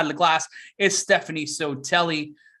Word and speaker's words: Sotelli: On the other side of the glass is Stephanie Sotelli. Sotilli, that's the right way to say it.